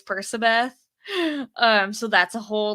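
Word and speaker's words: Percabeth: Um, though I will say I'm one of those embarrassing people that was like pronouncing it Perkabeth in my head, even though I know logically it's Persabeth.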